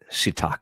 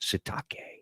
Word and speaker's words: Sitake: They tried to go after my man Keelani Sitake. That's how you say it. Sitake.